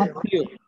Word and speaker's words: আত্মীয়: আত্মীয়। তয়ের সাথে মহাফলা যুক্ত হওয়ার কারণে ওই তটা দুইবার যুক্ত হয়েছে, দুইবার উচ্চারিত হয়েছে।